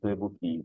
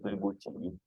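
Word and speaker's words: 对不起: This Q is CH in Chinese. This will not be pronounced as a C as a Q. Okay, this is not Tuebuki. This is Tuebuchi.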